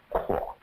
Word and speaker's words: Chuo: All service personnel are hereby directed to extend all courtesies to Captain Chuo. Oh, pronounced Kwa.